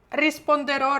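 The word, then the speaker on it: risponderò: супертип як то говориться коли ми бачимо в кінці слова такий гарний наголос на останній буквочці як гадаєте що це нам говорить має якесь значення чи ні звичайно це означає що саме туди у нас наголос перке університа спондеро зрозуміли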